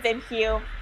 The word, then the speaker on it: Vimhue: So it's called Vinhue. It's spelled as VIMHUE, and it's basically ladies' headwear line.